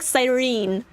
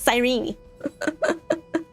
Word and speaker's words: Cyrene: I remember, like, way back, I was just like, Cyrene. And people are like, no, Ari, it's Cyrene. It's Cyrene. No, you're stressing the knee syllable a bit too strongly. It's Cyrene.